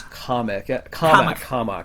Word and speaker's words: Commack: So the proper pronunciation, as it was initially told to you, was COMMACK.